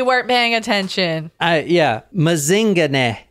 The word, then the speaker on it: Mazingane: paying attention all yeah mazinga and that is how you say it too cuz I actually heard someone in South Africa say it oh like Lazarus mazing